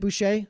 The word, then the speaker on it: Boucher: I'm gonna say Boucher. I'm pretty sure his family pronounces it Buché.